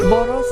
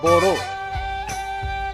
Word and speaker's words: Bodo: When Europeans started writing the name, they wrote Boro, but spelled as B-O-D-O. But correct pronunciation would be Boro, like Angboro.